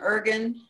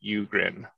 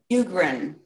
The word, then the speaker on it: Ugrin: pronounce your last name ergan you're on mute uh it's pronounced ugrin eugrin thank you yeah thanks